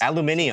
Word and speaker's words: aluminium: Aluminium. Tinnitus. Tinnitus. We Yeah, but Aluminum, yours idiot. is spelled.